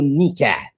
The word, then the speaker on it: nikah: How she have a husband and she is going to do nukah for him? She will marry him twice. Until you do nikah, learn how to pronounce the word correctly.